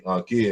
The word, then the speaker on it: ankh: word Punk but what the simple of the unka is how we evolved and what it means